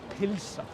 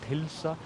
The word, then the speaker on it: pylsa: or in the countryside, they say pilsa, and that is with a Y. It's a slightly different way to say it. It's often considered as like the correct way to say pilsa rather than pulsa, although in city of Reykjavík we always say pulsa.